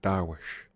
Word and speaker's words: dervish: to a company of dervishes they themselves pronounce it Darwish accompanying one of the